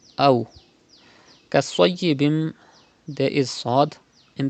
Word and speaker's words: أو: You have to pronounce waw lean without stretching and without sudden pause, like this. Aw.